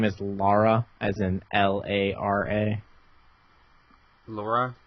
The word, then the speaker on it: Lara: entitled to your opinion but her name is Lara as in lar a Laura Laura Laura not